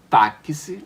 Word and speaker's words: táxi: Ele possui 4 letras, mas quando nós pronunciamos a palavra táxi, você percebe que tem um QC. Então esse X, ele vai ter um som de KS.